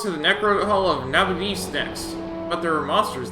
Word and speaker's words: Nabudis: Next stop is Nabudis to do Nabudis. That's how you pronounce it.